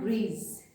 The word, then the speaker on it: grise: So grey we say gris and grise. Gris, grise. Again extra e we are adding here, so the pronunciation is changed, gris and grise.